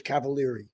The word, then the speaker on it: Cavaliere: from 11 Spoonful yeah he he pronounced my name correctly and it screwed everybody up but the American version is cavaler yeah okay well welcome Felix cavaler to to my little